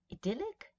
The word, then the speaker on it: idyllic: Idyllic, idyllic, italic, italic. So this is something, remember I keep telling you that sometimes American English speakers do. They use a diphthong here where we wouldn't, right?